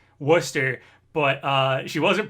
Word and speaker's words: Worcester: you a time stamp how do you think you pronounce this it's worcester oh yeah i was